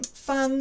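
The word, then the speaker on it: 峰: contain that same right hand portion are also pronounced fung or something similar so fung is so it has a silk radical um fung is mountainous with a mountain radical of course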